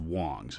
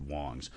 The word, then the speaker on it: Wangs: i think it's pronounced wong's it's spelled wangs w-a-n-g-s but i think it's pronounced wong's uh so you know